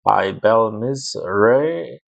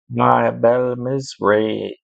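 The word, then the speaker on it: Abel-mizraim: They call it, and I got the pronunciation for this one. They called it Ibel Mizraim. Ibel Mizraim.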